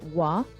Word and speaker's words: wah: two separate spellings so the jlu spelling is wah w a and you'll see alternate spelling in other jamaican patchwork written works w-h-a or w-a-h but it's all pronounced let's look at some